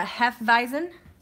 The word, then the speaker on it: Hefeweizen: It's called the Hef, and it's a Hefeweizen. I always try to say that correctly, but I feel silly having an accent for it, but that's how it's pronounced.